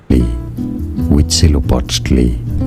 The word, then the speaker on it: Huitzilopochtli: I could pretend, but it's hoot, like suit, hoot, zelo, pot, to lie. And I'm sure I didn't say it right. How to say it? Huitzilopochtli.